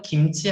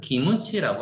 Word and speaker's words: 김치: 한국은 김치 하는데 일본인들은 기무치라고 합니다.